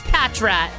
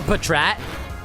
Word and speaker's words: Patrat: to freaking catch this Patrat or Petrat. How do you guys pronounce this guy's name? I always pronounce him as Patrat. Like Packrat, but I've heard people pronounce it as Patrat.